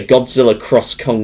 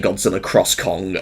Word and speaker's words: Godzilla x Kong: um I think that's I've heard that the x is silent in the title uh but according to the games director but wait games direct I mean films director not games director God I'm getting confused now from the director um the ex is silent apparently but um I I